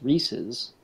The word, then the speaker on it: Reese's: Well, it's supposed to rhyme with pieces, Reese's.